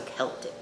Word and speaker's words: Celtic: Yes, it's Welsh, and they pronounce it K, so Celtic Ranch.